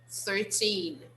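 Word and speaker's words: thirteen: piece of information actually 13 like all the other t numbers we have to use the stress on the second syllable so the second syllable is the strongest so 13 13.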